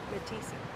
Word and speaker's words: Mathiesen: That's why we pronounced Dad's name right, Mathiesen, which most Mom, people did did you not do.